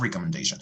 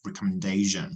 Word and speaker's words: recommendation: Es un sonido débil que se pronuncia y ahí donde está subrayado sería shun, recommendation, como television, observation.